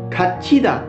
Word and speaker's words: 갇히다: Lalu 갇히다. 갇히다. 갇히다. Artinya terperangkap, terjebak, bisa juga terkurung. Oke, ini kan 갇히다. Karena tiget ketemu dengan hiet, dibacanya jadi c. Jadi 갇히다.